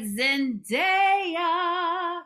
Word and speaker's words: Zendaya: your thing all right zendaya you have to say her name like that okay she is so